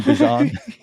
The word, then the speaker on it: Bijan: Tyler Algier, I actually think is like the great leverage play on Bijan or Bijan. You can pronounce it either way, by the way, these days. He's okay with both.